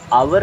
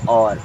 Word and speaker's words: our: क्या होता है तलना ओ यू आर इसे आवर नहीं पढ़ते क्या पढ़ते और क्या पढ़ते हैं और ए और मीस होता